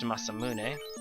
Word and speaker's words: Masamune: I said last section it says mazmun but it's actually there's actually supposed to be a second a behind the S and that's of course pronounced masamune once again we are